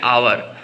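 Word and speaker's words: hour: एच है उसका उच्चारण एच साइलेंट हो गया एच क्या हो गया है साइलेंट उसका उससे जो प्रोनंसिएशन ह होता है उसका प्रोनंसिएशन यहां नहीं करेंगे यहां आवर का उच्चारण कर रहे हैं यानी ओ से उच्चारण हमारा प्रारंभ हो रहा है इसके कारण इसके साथ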